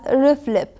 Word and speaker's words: RFLP: it's abbreviated as r f l p it's pronounced usually as reflib it involves incubating DNA samples with restriction enzymes